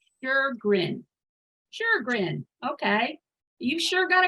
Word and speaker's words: Sjogren: Well, so I pronounce it Sjogren, like S-H-U-R-G-R-N, because there's an umlaut in over the O in Swedish. I've got a Finnish father. It gives it an sound. So just imagine it's Sjogren.